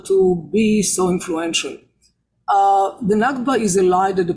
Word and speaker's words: Nakba: I almost call it Nafka, but I said Nakba.